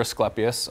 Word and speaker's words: Asclepias: So this is Asclepias or Asclepias. Both pronunciations would be correct.